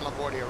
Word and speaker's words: LaGuardia: flight I'm gonna do up to Boston from LaGuardia real quick yeah you're pronouncing that correct Thank You Christian Thank You mr.